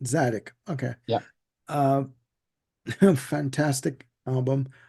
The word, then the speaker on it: Tzadik: Yeah, the T is silent. Zadik.